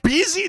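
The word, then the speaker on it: Bézier: In animation pronounced bier in from French. Bzier. That is called bezy.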